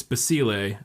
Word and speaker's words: Basile: It's Basile, and then it's like it's either Giambattista or Giambattista.